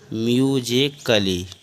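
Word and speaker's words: musically: चलिए जानते हैं चकि यदि ए के बाद डबल एलवाई आए तो ए साइलेंट होता है जैसे एम यू एस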